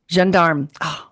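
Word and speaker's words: Gendarme: The Jandarm the Jearm Jandarm.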